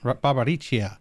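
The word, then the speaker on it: Barbariccia: really chia you know the double c is a chia barbaricia yeah sometimes yeah yeah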